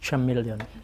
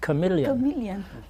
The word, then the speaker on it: chameleon: to the teacher actually it's not Charmeleon it's pronounced chameleon and so the teacher